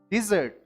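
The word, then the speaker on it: dessert: इसमें double S होता है, सबसे पहली बात ये ध्यान रखनी है आपने, और इसकी प्रोनाउंसिएशन यानी सही उच्चारण होता है डिजर्ट, ठीक है, तो इसको मिठाई बोलते हैं, डिजर्ट।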